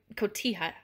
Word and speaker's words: cotija: I think it's pronounced cotija.